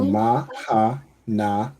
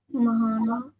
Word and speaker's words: Mahana: Mahana. Mahana. Well done. Right. We pronounce the ma fully. So ma, you pronounce the ha and then the na and the ha are connected. Right. So ma hana.